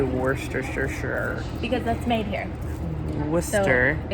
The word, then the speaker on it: Worcester: Worcester. So it's spelled like Worcester, but it's pronounced Worcester.